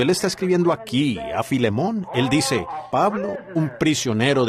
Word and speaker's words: Filemón: me lo sé, y a veces no puedo pronunciarlos correctamente por la falta de educación. Así que Filemón dijo alguien allá atrás, lo cual creo que es la pronunciación correcta.